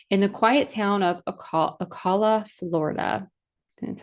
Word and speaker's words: Ocala: So, a little later than some of the bands we've talked about before in the quiet town of Aala, Florida. That's how you pronounce it.